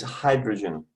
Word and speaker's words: hydrogen: Valeria, it's hydrogen. Hydrogen. I try to get it. Right. It's the open syllable. It's Y in the open syllable. Therefore, it has to be pronounced as I, not as E.